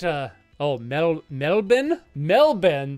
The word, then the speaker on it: Melbourne: oh metal metal bin melbin that's how you pronounce it the Australian way ah metal Ben gotcha